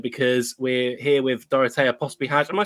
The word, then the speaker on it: Pospihalj: and sci-fi episode, because we're here with Dorotea Pospihalj. Am I saying that right? How do you say your surname? Yes, it's Pospihalj.